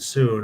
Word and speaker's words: Sun: And Wei and Soon are. Okay, note that Sun is pronounced Soon.